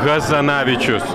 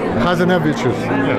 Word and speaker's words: Hazanavičius: way you want, because I do it the French way, and it's not a French name. So actually you're the ones who know how to pronounce it, and I should ask you how to pronounce my name for once.